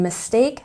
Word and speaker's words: mistake: And mistake has stress on the second syllable. Mistake, mistake.